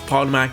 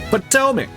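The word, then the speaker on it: Potomac: could only have been seen by literal miles Pac yes pronounced it wrong but that's okay it's a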